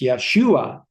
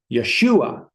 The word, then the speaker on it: Yeshua: So it's Yeshua, but it's Yesua because the focus is always on the second syllable. So it's Yeshua. Yeshua.